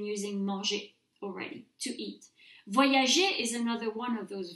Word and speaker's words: voyager: a soft G, G, voyager. Je voyage, tu voyages, il voyage. All good. We keep that soft G sound because when a G is followed by an E in French, it's pronounced J.